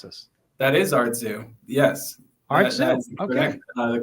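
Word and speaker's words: Artzoo: this correctly or how am I supposed to pronounce this that is Artu yes art the correct pronunciation and um so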